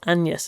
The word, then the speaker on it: Agnes: And in the will, he refers to her as my daughter Agnes, or Agnes, as it might have been pronounced then.